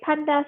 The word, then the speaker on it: pandas: You will have something called a pandas library. It's not pronounced panda like the bear. Well, not quite the bear, but you get what I mean.